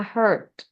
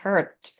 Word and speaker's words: heard: Yang pronunciation that, think, the, whether, sama heard. Kalau misalkan udah lewat tuh kita nggak bisa mengatakan hear atau her, tapi harusnya dikatakan sebagai heard. Deh-nya harus kedengeran. Terus untuk yang grammar, it's called.